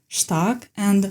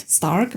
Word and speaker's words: Stark: By the way, on a side note, I've been informed that his name is supposed to be pronounced as Shtark, not Stark, because this is an actual German word.